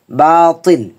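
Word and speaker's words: باطل: বংশধর পরিবার অনুসারী বাতিল বাতিল যেন না হয় তা এর উচ্চারণ একরকম হবে এর উচ্চারণ আরেক রকম হবে বাতিল বললে এখানে তা হয়ে যাচ্ছে কিন্তু এখন হবে মোটা আওয়াজে বাতিল বাতিলুন অর্থ হচ্ছে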